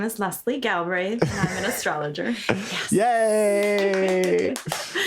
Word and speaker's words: Galbraith: how do you say your last name oh galbraith galbraith galbraith so leslie galbraith do you want